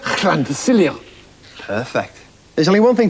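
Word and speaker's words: Llantysilio: For instance, that says llan. Quite right. Llan. And that says... Ta. Yeah, and that says... Cilio. So all in one, Fred? Llan to Cilio.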